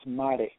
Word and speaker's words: Mare: It's Latin for great sea, so it's Mare, Grand Mare. But yeah, I like that. Grand Mare. That's how you, okay. That's how you kind of pronounce it.